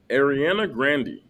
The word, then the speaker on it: Ariana Grande: Is this A, Nick Jonas, B, Ariana Grande, which is the correct way to pronounce her name, C, Anne Hathaway, or D, Cuba Gooding Jr.?